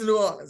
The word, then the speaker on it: New Orleans: tourists say they'd be like I'm going to norleans but it's you know New Orleans it's not New Orleans New Orleans it's New Orleans just New Orleans all all together awesome so with you being